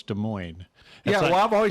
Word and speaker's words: Des Moines: That's like Des Moines. No, it's Des Moines.